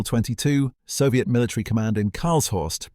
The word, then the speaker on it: Karlshorst: The next morning, April 22, Soviet military command in Karlshorst, pronounced K-A-H-R-L-S, Horst, invited Western journalists to tour the tunnel.